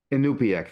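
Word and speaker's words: Iñupiaq: do you say the name of is it Inupiaq. Inupiaq?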